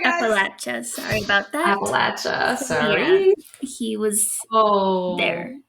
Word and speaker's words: Appalachia: hate that and he was in um appal Appalachia Appalachia Appalachia Appalachia Appalachia my dad will come